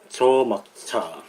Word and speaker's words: 且莫車: 읽을 때 여기 또 저라고 읽어요. 읽을 때는 저라고.